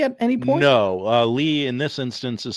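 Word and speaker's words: Leigh: Uh, Lee in this instance is spelled L E I G H.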